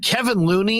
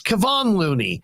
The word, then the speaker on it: Kevon Looney: clay thompson it's not it's like kevin looney it's kevon looney it's the second round